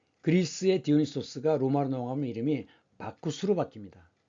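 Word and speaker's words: Bacchus: 디오니소스상인데 이 그리스의 디오니소스가 로마로 넘어가면 이름이 바쿠스로 바뀝니다. 그래서 왜 우리 그 드링크제 바카스라고 있죠. 이것이 영어식 발음이고 로마어로는 바쿠스입니다.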